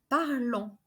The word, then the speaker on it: parlons: Nous parlons. We don't pronounce the S at the end.